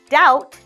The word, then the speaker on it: doubt: don't doubt his words we see b o u BT let's just pretend there is no B and in fact let's replace it with an o w like ow so doubt we don't doubt his words